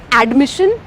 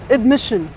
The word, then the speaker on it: admission: The stress is on the second half of the word, huh? It's not admission, it's admission. Admission.